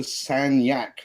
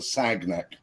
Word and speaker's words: Sagnac: Yeah, secondly, it's the Sagnac effect, not the Sagnac.